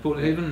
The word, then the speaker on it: Portnahaven: Portnahaven, that's it. I'm glad you could pronounce the name.